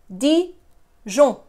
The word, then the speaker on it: Dijon: Well, it's not Dijon because the nasal sound is one sound. The N is not pronounced. So it's Dijon, Dijon.